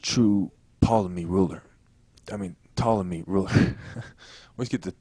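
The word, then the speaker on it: Ptolemy: So, I always say sometimes I think to say poley because I'm thinking about how it's spelled in my head, but it's really the p is silent.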